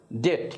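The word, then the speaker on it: debt: sometimes he runs into ডেট কিন্তু মাঝে মাঝে তিনি ডেটে পড়েন ডেট মানে হলো তিনি ঋণগ্রস্ত হয়ে যান আর এটার উচ্চারণটাও খেয়াল করতে পারেন এখানে কিন্তু এই যে বি এর উচ্চারণটা হবে না এখানে এরকম আরো শব্দ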